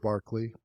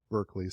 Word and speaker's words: Berkeley: of non-physical Concepts so George Barkley or Berkeley some people mispronounce it he was a a